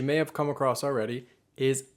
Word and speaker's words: hay: So the first one, which you may have come across already, is I. H-A-Y. It looks like hey, but it's not pronounced like that. It's pronounced I.